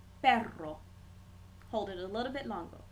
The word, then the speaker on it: perro: little bit longer um there is a difference between saying and erre for instance we have two words look similar except one has the single R the other one has the double r the first word perro pero meaning but if I want to